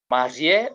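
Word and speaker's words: mariée: Marié, that is masculine, but feminine we say marié. Pronounce the same. There is an E at the end. This is feminine, okay?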